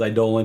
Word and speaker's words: Eidolon: That's my favorite word, by the way, is Eidolon. It's the only word that rhymes with Solon. And so whenever people say it wrong, they're taking something from me.